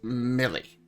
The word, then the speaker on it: M1LY: It's Millie. still pronounced Millie.